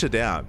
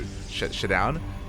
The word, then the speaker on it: ShaDoWn: Sorry, I pronounce it like down as its separate word. So I do ShaDoWn because D is capitalized, but he says ShaDoWn.